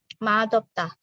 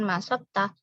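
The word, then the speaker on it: 맛없다: maksudnya tidak enak dan ini bacanya bukan masukkah aniyo dia dibaca seperti huruf d disini matob tah oweo Kenapa memang dari sananya gitu Ya matob tah bukan masuk tah kemudian ada kata Saga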